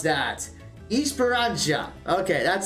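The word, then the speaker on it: Esperança: is going to be push okay I completely mispronounced that Esperanza okay that's how you do it too much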